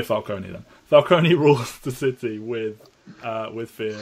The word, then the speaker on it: Falcone: That is how it's said. It's Falcone. Carmine Falcone.